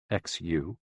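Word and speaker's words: 嘘: The 6 sounds are XU, pronounced like shh, with a deep sigh, which is associated with the liver.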